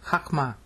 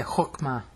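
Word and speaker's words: חכמה: And the word for wisdom is very famous word in Judaism hakma. They might say hookma because uh Jews mix up the A's and the O's.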